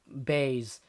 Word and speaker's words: Buys: last night jp and cheyenne buys or bays as they like the um pronounce it even though it clearly is spelt buys anyway they were making